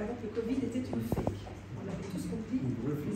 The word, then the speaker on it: PHEIC: Pour les journalistes, peut-être qu'ils ne le savent pas, fake, ça s'écrit PHEIC, ça veut dire Public Health Emergency of International Concern.